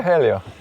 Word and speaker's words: Helio: Hi Helio. Hi. Did I pronounce that right?